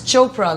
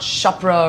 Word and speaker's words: Chopra: with a P and it's Chopra like Oprah not shopra or shaa or whatever not it prianka made